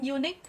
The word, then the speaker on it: unique: Nhiều bạn nói là unique, không đúng. Mình sẽ không nói là unique. Tại vì you, cái âm tiết đầu tiên mình phát âm ra đó là âm dở, chứ không phải là âm u nhé. Nhưng nó là phụ âm ấy.